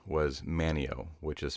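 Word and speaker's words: Manteo: that it is pronounced Manio, despite there being a T in the word.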